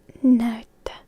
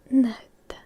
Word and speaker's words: näyttö: That's a bit difficult, tricky again, because we have some of those vowels that you don't usually pronounce in this manner in English. So we have ä first, nä, and then y, which we pronounce as y, näyttö, näyttö, and the ö at the end, näyttö.